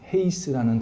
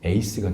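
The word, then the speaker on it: εἷς: 앞에 거 4개는 몰라도 마지막 헤이스라는 단어는 아셔야 합니다. 헤이스, 1이라는 뜻입니다. 그러니까 하나라는 뜻입니다. 헤이스가 나중에 H가 묵음 처리가 됩니다. 그래서 에이스가 됩니다.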